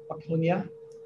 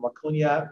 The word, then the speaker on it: Waconia: Carver Distillery out in, I'm going to say it wrong, it's not the Twin Cities, it's Waconia, Minnesota.